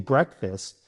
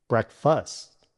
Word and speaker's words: breakfast: Brek rhymes with check.